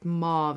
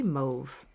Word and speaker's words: mauve: like a brown and then we have a mauve or mauve as some people say I say move and then I I heard that the correct way to say it is mauve but it just feels wrong to me so I like to say move okay so as I